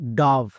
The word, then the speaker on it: dove: ভি এর জন্য ভো, এবং শেষের ই সাইলেন্ট, তাহলে এর উচ্চারণ ডব হবে না। অনেকেই ভুল করছো, আজকের পর থেকে আর ভুল করবা না, ওকে? তাহলে এর উচ্চারণ কি হবে? ডাভ।